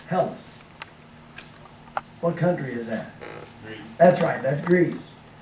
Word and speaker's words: Hellas: We put this in English, looks like this, and with the rough breathing mark there in Greek, it's pronounced like this, Hellas.